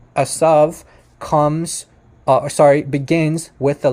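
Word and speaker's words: עשו: It's not a theory that the name Isu, or Hebrew pronunciation Asav, begins with the letter Ain.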